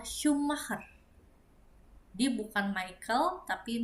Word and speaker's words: Schumacher: Kemudian sh karena jadi sh jadi shumer. Jadi namanya adalah Mikel Schumacher.